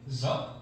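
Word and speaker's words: dó: papel hecho en Vietnam se llama eh zo se escribe de o con acento y es muy interesante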